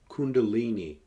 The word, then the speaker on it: Kundalini: dormant in the base of their spine as Kundalini or Kundalini energy let me spell that for you k u n da l i n i Kundalini energy often likened to a serpent Kundalini